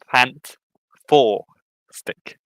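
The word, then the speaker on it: Fant4stic: You pronounce it Fant Four Stick. That's how you pronounce it because it's the way the title works. Fanta and four and then stick.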